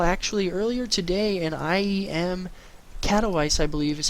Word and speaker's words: Katowice: As we saw actually earlier today, an IEM Katowice, I believe is how it's pronounced, took place in Poland.